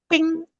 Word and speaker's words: bing: Kalau misalnya BING, gimana? ping, Ping, oke, ping, ping, benar. Ping. Kalau misal aku kasih PIE, pie, pie, yes. Pie, bagus banget. Pie. Kalau PING, ping.